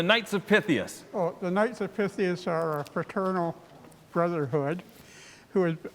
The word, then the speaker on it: Knights of Pythias: i am joined by ed kale from the knights of pythius am i pronouncing it right yes okay so knights of pythius they began their philanthropy back in 1864.